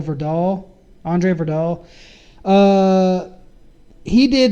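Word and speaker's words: Øvredal: he's actually Andre over over doll or over doll because I think that o is not pronounced so for doll Andre for doll he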